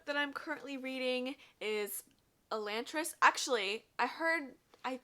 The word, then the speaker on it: Elantris: i'm currently reading is elantris actually i heard i i think this is called elantris i heard someone pronounce it and i i've been saying elantra's but i think it might be elantris this is by brandon